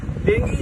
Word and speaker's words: dengue: डेंगू जो है डेंगी कहते हैं। डेंगी एक्चुअली यहाँ पे लोग डेंगू बोलते हैं पर प्रोनाउंसिएशन डेंगी है।